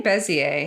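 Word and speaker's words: Bézier: convert them to bezier is it beer or bazir how do you say that word I say bezier bezier that's what I'd say too and then you can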